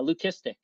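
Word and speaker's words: leucistic: And yeah, learn lesson learned, you know, of the whole uh, lucistic, right, being the appropriate pronunciation, you know, for that.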